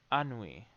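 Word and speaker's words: ennui: quick so i know i'm saying it right annui there we go so and anui is essentially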